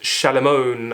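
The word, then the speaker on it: Shalimar: the fictional town of shalar which is pronounced shalamon and this is a play on words of Solomon he travels to this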